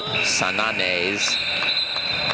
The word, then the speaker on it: Sananes: I'm told it's Sananes and Besson.